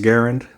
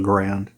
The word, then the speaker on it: Garand: I think it's pronounced Garand, but everybody calls the rifle a Grand.